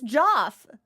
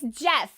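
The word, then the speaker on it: Geoff: Who's Joff? Joff Kaylee. Is it? Why do you not know? It's fucking... I've never seen Jeff spelled like Joff before. Fuck off. It's Jeff.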